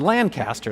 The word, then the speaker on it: Lancaster: to say Lancaster County, you say it like a reasonable person, Lancaster. That's how I said it before I came.